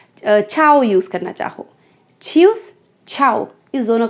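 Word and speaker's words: ciao: या अब जो यूरोपियन कंट्रीज़ में एक वर्ड और है जिसको मैं बाई के लिए यूज़ करती हूँ, दिस इज छाओ, छाओ। तो इसको हम सियाओ खियाओ बिल्कुल नहीं प्रोनाउंस करने वाले, दिस इज छाओ, छाओ।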